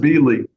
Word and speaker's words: Bieley: It's And pronounced Bieley, by the way.